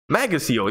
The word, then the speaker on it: Macasiel: I'm surprised, but my last name is pronounced Macasiel. Yeah, I never would have.